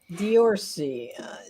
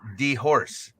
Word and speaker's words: Diorce: Diorcy. It's Diorce. Okay. Anyways. That's okay. Steve Corsair Trainers pronounces my name as Diorcy. Well, He knows it's Diorce. He just says Diorcy.